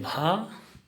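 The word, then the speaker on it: ভ: उच्चारण हमेशा अ और ओ का होता है। जैसे हिंदी में भ और असमिया में होगा भो।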